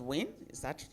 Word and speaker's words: WIN: Let me again commend the concept of women in hospitality Nigeria, which is pronounced WIN. Am I correct? Yes. WIN. That's interesting.